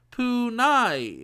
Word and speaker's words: Pune: For example, a letter Y of a transliterated Dracarian is pronounced as I. This is also true in the uncommon case of Pune, in which a letter Y overruled A and ended up pronouncing as Punai instead.